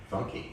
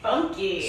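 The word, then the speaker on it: Funke: the living roommates Bethany think f-u-n-k-e um funky funky so she no longer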